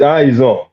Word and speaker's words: Izon: This is Izon, no? Now, there are two. Yes. The first question is rather straightforward. Yes, it's Izon. You're right.